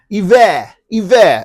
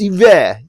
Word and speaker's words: Hiver: It's Hiver. A few customers did tell us that. It's Hiver. Remember, all these products are French.